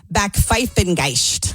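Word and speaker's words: Backpfeifengesicht: The word is pronounced bakfengeist. Backfingist.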